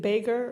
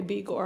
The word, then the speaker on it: Begor: Is it Bager or Beger? Sorry, I'll answer just about everything, but my mom goes by Begor. Okay, Begor.